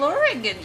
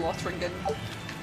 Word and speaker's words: Lothringen: If I did not know how it was pronounced, I would be saying Lothringen.